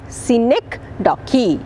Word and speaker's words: synecdoche: figure of speech i hope you got the pronunciation hyperbole the other one is synecdoche scenic docky clear all right and look upon myself and